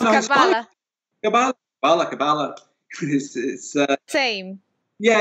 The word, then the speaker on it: Kabbalah: Okay, so first off, I mispronounced it as you. No, it's Kabbalah.